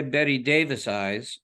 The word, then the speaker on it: Bette Davis Eyes: winning you know it's funny the way people pronounce it some people say Betty Davis eyes and it's Betty Davis eyes the accents on